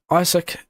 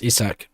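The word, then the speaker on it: Isack: who has had some stuff to show for his results is Isak or it's actually pronounced Isach but anyway Isach Hajar in P4 right now defending to Lllair.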